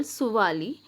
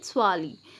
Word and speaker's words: Suvali: off the coast of Suvali. Now the place where this battle took place was called Suvali, as English or the Britishers could not pronounce it in this way. They used to call it Swali.